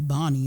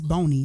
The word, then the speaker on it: Boney: They sometimes they'll say Bonnie, and I'm like, I'm not a Bonnie. It's Boney, because they be thinking like, oh, I don't want to mispronounce. I'm like, no, it's Boney, Boni.